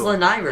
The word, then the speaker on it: Lanayru: I thought it was Lanayru. It's Lanayru. Nairu, so it's Lanayru. Nairu. It's Nairu, and then Lanayru.